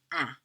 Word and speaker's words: un: the vowel in front becomes nasalized, so it's un. The X, the S aren't pronounced, so we have deux, trois.